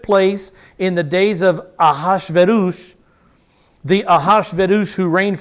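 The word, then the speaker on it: Ahasuerus: the name you see in the bible is a hazuris that's how most people pronounce that a good hebrew word pronounce it a and me being a good hebrew wannabe is gonna pronounce his name ahash verus because that's his name ah and this is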